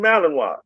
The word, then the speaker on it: Malinois: I was saying Malin raw noise, you know. And he said, "No, Belgium, Malininoa."